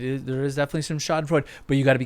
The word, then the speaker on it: Schadenfreude: I mispronounced that. Schadenfreude. Schadenfreude.